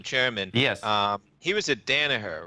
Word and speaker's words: Danaher: He was at Danaher, right? Is that how you pronounce it?